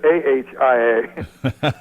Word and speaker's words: Ohio: And it's not Ohio. You notice I said AHIA. That's right. Where'd you go to school? I went to Ohio State. that kind of central southern Ohio pronunciation of a little more A's and O.